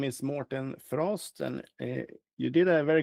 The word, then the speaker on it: Mårten Frosth: Yeah, my name is Morten Frost, and you did a very good job at pronunciation of my name.